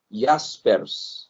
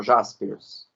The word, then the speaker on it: Jaspers: Karl Jaspers. Se escreve Jaspers. A gente fala aqui Karl Jaspers, né?